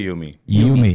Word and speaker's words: YUME: Uh Yumi, Yumeme, how do you pron what's the correct pronunciation? We say Yumi. It's like you and me.